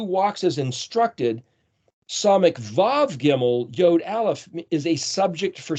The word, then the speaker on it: gimel: word Geo because the gimmel is our third letter in English the letter c but it's pronounced like the G but basically the word